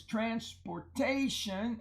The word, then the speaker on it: transportation: the noun form is transportation and I want you to notice the a there is a long a in front of the tion transportation and it's an open syllable which explains why it's long now we have a